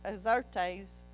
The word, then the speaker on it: Xerxes: King Xerxes, and it says Azarias, but Xerxes is how it's pronounced in ours.